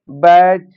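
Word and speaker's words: batch: एक रूल और है, यदि टी के बाद सी एच आ जाता है तो टी साइलेंट होता है। जैसे वर्ड लिखा है बैच, कैच, मैच या वाच।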